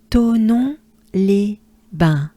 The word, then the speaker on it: Thonon-les-Bains: So again, we have the sound un, just like we just had in Vinziers. And in, for instance, un, as in one. Un. Bain. Les bains. So as a whole, together, ensemble, we take a good breath. Thonon-les-Bains. Encore again. Thonon-les-Bains. And maybe the real French way would be Thonon-les-Bains.